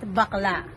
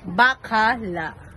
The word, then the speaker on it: Bacala: It's not bakla. You pronounce bakala.